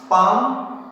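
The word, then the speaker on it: palm: इस तरह से याद रखना है कि हमें इन सब शब्दों में कभी भी एल का प्रोनाउंसिएशन हम नहीं करेंगे। काम, पाम, पामिस्ट, could, would, should, Chowk, talk, Fock, calf, behalf, better half.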